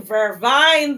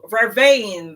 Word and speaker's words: vervain: So, Joe, I'm having vervine this morning. Vervain, the correct pronunciation. But Jamaicans, we always twist things different. Good morning, Stephanie. And we always call it our own name. So Jamaicans call it vervine, it's vervain.